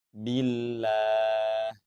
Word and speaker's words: billah: Nah, di sini huruf ba harokatnya kasroh sebelum lafaz Allah, maka dibaca tipis lafaz Allahnya. Billah.